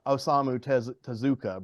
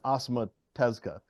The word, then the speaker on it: Osamu Tezuka: Everybody calls him Osamu Tezuka, but that's just what us Americans say. I'm pretty sure it's Osamu Tezuka.